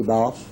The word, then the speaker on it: Balfe: Balfe, is that correct? His name is pronounced Balf, yes. Balfe.